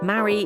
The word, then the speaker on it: marry: In fact, in American English, marry, merry, and Mary sound the same, while British English distinguishes between them.